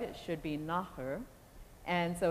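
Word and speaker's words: nathair: the Celtic language and they pronounce it on screen as nether as it would be in English well that is not at all right it should be naher and so it's totally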